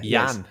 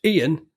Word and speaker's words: Ian: If your name is Ian, you're going to pronounce it Jan. You're not going to say, my name's Ian.